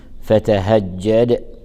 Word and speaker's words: فتهجد: فتهجد يراعى ترقيق الفاء وترقيق التاء وترقيق الهاء وترقيق الجيم وضغط الجيم المشددة كي يظهر أنها حرفان وليست حرفا واحدا، فنقول فتهجد به.